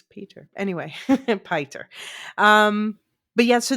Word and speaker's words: Piter: It should be pronounced Piter, but Yeah, hey, the name is so Dutch and it's Peter.